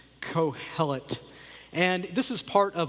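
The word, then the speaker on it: Qohelet: In Hebrew, his name is pronounced cohellet spelled with a q quo h e l e t.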